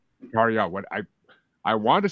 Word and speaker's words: Tarja: on, It's I will Tarja. Tarja. What I wanted to say that, but I didn't want to fuck it up, so I was like, yeah. But the J is silent.